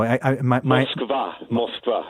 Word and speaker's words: Moskva: Moskva is the Russian pronunciation.